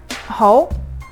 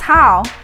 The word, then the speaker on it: Hou: To be exact, it’s not hard, it just doesn’t sound right. Every time the customer service ask me: What’s your last name Ma’am? Hou. Oh hi, Mrs. Hao.